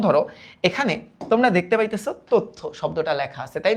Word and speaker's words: তথ্য: কিন্তু এটার অ্যাকচুয়ালি উচ্চারিত রূপটা কি দেখবা তোমরা, টেস্ট পেপার গাইড বা বই খুলে দেখবা, এটার উচ্চারিত রূপ কিন্তু তথ্য। উচ্চারিত রূপ কিন্তু এইভাবে দেওয়া, তথ্য।